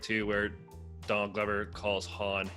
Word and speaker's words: Han: And I like the little part too where Donald Glover calls Han Han. Yeah. Like, purposely mispronounces his name, which ties into obviously why Billy D. Williams always said Han instead of Han.